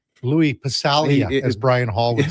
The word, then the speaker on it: Passaglia: Halsy would never say Passaglia, right? It was always Passalia. That's how they say it.